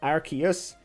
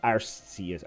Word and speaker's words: Arceus: ruling on is it arceus or arses or a x but how do healthy i think it's pronounced arceus based on our anime i think that's what